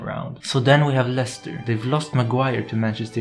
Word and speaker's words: Leicester: The logical thing would be to say Leicester, yet you pronounce it Leicester.